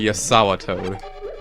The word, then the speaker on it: JazawaToad: Also, And- you may want to call me JazawaToad, since that's what he calls me. Yeah, I pronounce my J's as Y.